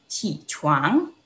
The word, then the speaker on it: 起床: Nah, QI di sini tetap bacanya I ya, qi, karena kan bukan bagian dari 6 kosakata yang tadi lo sudah jelasin, bener nggak? Jadi kita tetap bacanya qi gitu ya, qi chuang.